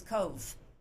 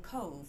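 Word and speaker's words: Cobh: Where she arrived was Cove, and I should have a lovely photo of Cove Cathedral. And Cove is spelled C-O-B-H, pronounced Cove, C-O-V-E, but spelled C-O-B-H.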